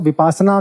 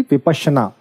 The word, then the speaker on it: विपश्यना: हूँ उसका नाम है विपश्यना। हालांकि जब ये इंग्लिश में लिखा जाता है तो इसको विपासना कई लोग प्रोनाउंस करते हैं फोनेटिक्स हटा के, बट फोनेटिक्स को लेते हुए इट विल बी विपश्यना।